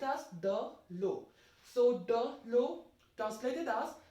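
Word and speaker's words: de l'eau: Together it will be pronounced as the low.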